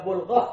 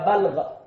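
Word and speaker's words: بلغة: Nah, bulghah ini ada bulghah, ada balghah. Hati-hati bacanya. Ini artinya beda sekali. Kalau balghah, balghah itu puncaknya kebodohan. Itu disebut balghah. Tapi kalau disebut bulghah, itu kekuatan untuk menahan penderitaan dalam kehidupan.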